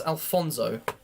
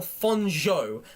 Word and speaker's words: Alonso: living a healthy life Alonso Cruz pronouncing the sh sound is very important he gets offended if you pronounce it as Alfonso oh my God I I read it as Alfonso it's not Alonso Cruz it's Al Alonso Alonso Cruz Alonso okay